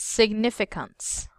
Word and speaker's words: significance: this word this word significance sick chicken if okay that word you read it right but this trust must be on the second syllable okay that Israel as